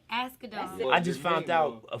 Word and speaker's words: Asghedom: ASGHEDOM. I was like, how Yeah. did you say ASGHEDOM?